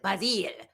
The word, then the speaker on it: Basil: Yes, he kept saying, he's like, here in England, we pronounce it Basile.